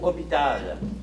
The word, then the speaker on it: hôpital: Combien y a-t-il de syllabes dans le mot hôpital? Charles-Antoine. 4. Non, réplique. Pour Mathilde. 3, c'est bon.